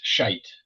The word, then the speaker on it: Scheidt: So, how do you pronounce that your last name correctly? It's Scheidt. Scheidt, a German.